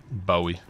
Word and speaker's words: Bowie: Bowie. Bowie. Like David Bowie.